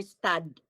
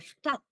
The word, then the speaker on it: Stadt: And also, Sister Alicia, to perfect it, the D in the word, don't pronounce it. Got it? You don't say in their Stad, but go to the T. In their Stadt.